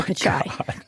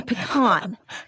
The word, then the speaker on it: Pichai: The other part that I was indignant about, and I don't love defending tech companies, trust me, is mispronouncing the name of Sundar Pichai, calling him pecan.